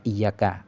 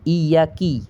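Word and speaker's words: إياك: bawah ataupun kita baca bukan iyaka bukan iyaka kita baca kita kita baca akan tetapi iyaki kalau iyaki itu menjadi kafir kita Nah jadi makanya jangan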